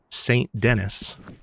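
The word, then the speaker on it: Saint Denis: Let's now I guess we'll ride down to St. Dennis. That's how it's pronounced.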